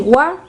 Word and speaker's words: は: Se escribe como ja, pero se pronuncia wa.